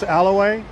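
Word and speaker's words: Ala Wai: it's right on the Alay and I am pronounced that correct so don't try and tell me I'm not that's Alaway and this street right here uh it has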